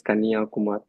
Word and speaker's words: Kanyakumari: You can see the sunrise and sunset from the same point in Kanyakumar. So the pronunciation is Kanyakumar.